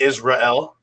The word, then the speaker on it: Israel: Israel, but it's actually Israel. That's how it's Yeah.